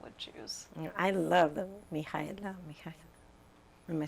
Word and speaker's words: Mihaela: I love the Mihaela.